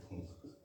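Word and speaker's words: Funk: जाता है कि सर्वप्रथम फंक महोदय या कहीं कहीं कुछ लोग उच्चारण करते हैं फुंक महोदय 1912 ईस्वी में किया था।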